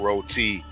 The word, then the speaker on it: roti: And I heard KG pronounce roti rot.